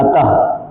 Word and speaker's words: अतः: तो अ तः अतः यही ना बोलते हैं। अतः फलतः ल तो ये याद रखिएगा। ह का उच्चारण आएगा।